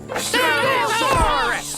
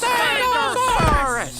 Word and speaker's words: Stegosaurus: I'm Coach Stegosaurus. You can say my name. Stegosaurus! Stegosaurus! Stegosaurus!